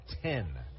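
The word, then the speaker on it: Then: last name is spelled t hen but it's pronounced 10 as Tyler Payne will come to the play Payne Rada and Paris in the eighth inning for Rocket City so righty on righty as 10 will face Payne who's two of three two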